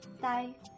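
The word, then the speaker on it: 打: First up, the plus a, that makes da, and if you put it in the third tone, da means to hit.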